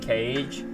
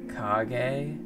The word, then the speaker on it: Kage: pronounced the other way technically it's not pronounced cage i just say it that way and raffy knows that i say it that way and i think he thinks it's funny so um he he just he just lets me roll with it so you know raph is a good guy so pretty sure it's a naruto technically technically it's pronounced kage but i'm not i'm